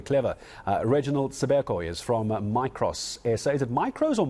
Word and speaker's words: Micros: You've pronounced it correctly. It's Micros South Africa, a company owned by Adapt IT.